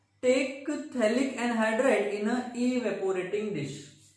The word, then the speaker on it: phthalic: P is silent.